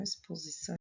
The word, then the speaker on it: exposição: A palavra exposição é escrita com X, porém o som é de S.